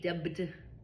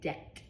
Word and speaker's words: debt: I don't say ded. I say debt. I don't hear a b sound.